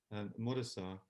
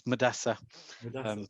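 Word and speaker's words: Mudassar: You can call me, so you can avoid making mistakes with my name, which is often mispronounced. It's Madassa.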